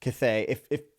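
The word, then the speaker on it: Cthaeh: Also the Cathay, as I believe how you say it, it's C-T-H-A-E-A, whatever. Cathay.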